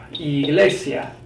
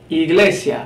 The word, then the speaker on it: Iglesia: for E we have Iglesia Iglesia the Spanish word for church Iglesia it's pronounced as we would pronounce our letter e Iglesia is another different